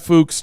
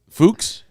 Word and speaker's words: Fuchs: Fuchs? Yeah. Fuchs? F-U-C-K-S. What the Fuchs? You would think It's Fuchs. You would think it's... It says on the website, it is pronounced like books.